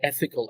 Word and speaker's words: ethical: Where is the stress? I think the first syllable. Yeah, that's good guessing. Good guessing. Yes, it's ethical. Ethical. And you notice that the first syllable is the highest.